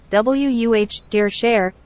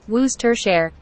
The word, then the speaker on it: Worcestershire: differently from its spelling the typical pronunciation is wuh steer share or Wooster share the pronunciation you mentioned